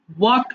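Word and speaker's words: walk: ওয়াক হাটা ওয়াক ওয়াক ওয়াক আচ্ছা ভালো করে দেখেছো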